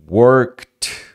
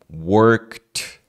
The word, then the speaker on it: worked: som de t tá as palavras no passado que tem um k e d normalmente som de t looked work n trabalhar work então worked worked deixa colocar aqui ó